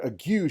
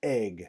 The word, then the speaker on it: ague: or a fever, then the word ague shouldn't be pronounced ague, it should be pronounced egg.